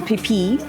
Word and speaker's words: Pipet: This is Mount Pipet, P-I-P-E-T, but pronounced Pipet.